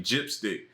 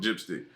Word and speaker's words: GPSTC: And then it's actually Gypstick. GPSTC, I think it is. GPSTC, we call it Gypstick.